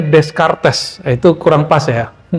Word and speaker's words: Descartes: Ada orang bacanya Descartes, itu kurang pas ya. Descartes itu spelling Indonesia. Ya, yang benar Descartes. Agak sulit juga sih pakai R-nya itu, R-nya ghain. Descartes.